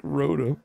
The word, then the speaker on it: Rotom: Pronounce it like Rotom. Yeah. That's exactly right.